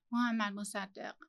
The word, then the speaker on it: Mohammad Mossadegh: Mohammad Mossadegh.